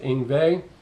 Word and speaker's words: Yngwie: y ng wi e I know it's pronounced inve it's not how it's spelled yeah once you get